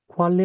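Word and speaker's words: 관리: কোয়ালি মানে হচ্ছে ম্যানেজমেন্ট। এটার উচ্চারণ কি? আবার বলি, এটার উচ্চারণ করলি কি? লয় ল কোয়ালি, লয় লয় সংযুক্ত, ঠিক আছে, কোয়ালি ব্যবস্থাপনা, ম্যানেজমেন্ট।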